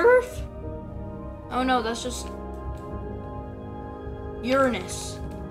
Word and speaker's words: Uranus: oh no that's just Uranus that's how you actually pronounce it it's not your anus where did that on